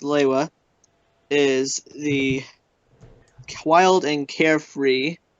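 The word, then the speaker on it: Lewa: yes TOA li hua also officially pronounced leila is the wild and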